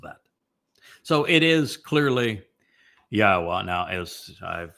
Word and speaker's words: Yahweh: So it is clearly Yahweh.